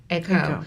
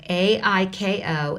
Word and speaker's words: Aiko: the ICO spelled is that the way i pronounce that a CO or iko iko iko yeah ai ko and igor EG 0 r tell us about